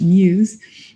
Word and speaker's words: Meux: Meux, and it's spelled M-E-U-X, but it's pronounced Muse, was the heir to